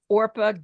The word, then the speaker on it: Orpah: to be named or she was named officially orpa Gail Winfrey but people mispronounced it so often that that's how she